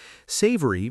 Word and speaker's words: savory: Savory means not sweet. Think eggs, vegetables, cheese, avocado, things like that. And notice the pronunciation there, savory, three syllables, stress on the first.